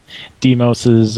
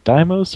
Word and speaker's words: Deos: speak oh looks like deo's uh manager correcting how we're pronouncing it it's actually pronounced deos and not damos or de dios deos deos oh looks